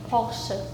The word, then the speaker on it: Porsche: In Germany, we say Porsche. I think in America we usually say Porsche or Porsche. In China, we see 保时捷. In Japan we say Porsche.